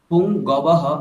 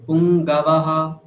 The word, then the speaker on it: পুঙ্গবঃ: শৈব্যশ্চ পুনরপুঙ্গবঃ, পুংগবহ, ওটা অকার উচ্চারণ স্পষ্ট হবে। পুংগাবাহ, আপনি বলছেন পুংগবহ, মানে ওকার টাইপের চলে আসছে, সেটা হলে ভুল।